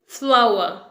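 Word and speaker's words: flour: कहते हैं फ्लोर लेकिन इसे हम बोलेंगे फ्लावर फ्लावर फ्लोर नहीं बोलेंगे ओके फूल को भी इंग्लिश में कहते हैं फ्लावर और आटे को भी इंग्लिश में कहते हैं फ्लावर इन दोनों के सिर्फ स्पेलिंग डिफरेंट है ओके लेकिन प्रोनंसिएशन सेम है यह आपको याद रखना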